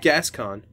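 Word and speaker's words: Gascoigne: boss uh father oh man how did you pronounce his name gason that's pretty close it's gascon okay or get or I think there's two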